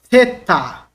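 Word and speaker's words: θῆτα: Theta. Ó, theta é a língua entre os dentes, tá bom? Soprando. Porque ela é uma dental, tá? Língua dental, e também ela é uma aspirada.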